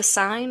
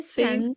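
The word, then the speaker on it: Seine: Is it river sign? Is that how you say it? I say sen sen. Yeah, I said it completely wrong.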